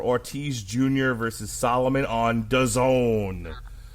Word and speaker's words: DAZN: versus Solomon on DAZN, which, as we like to remind people, rhymes with calzone.